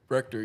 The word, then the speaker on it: Rector: Rector, yep.